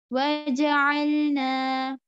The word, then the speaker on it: وَجَعَلْنَا: Ayn is pronounced by the middle throat.